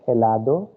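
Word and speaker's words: helado: so it will be elado and in plural it will be elados h will be silent second one it is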